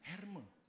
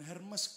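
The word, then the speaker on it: Hermès: kan sekarang sudah zamannya herme ya jangan Hermes kampungan Bacanya jangan Hermes kampungan yang betul-betul herme katanya semua katan 2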